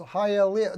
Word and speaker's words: Hialeah: Hialeah is pronounced Hialeah.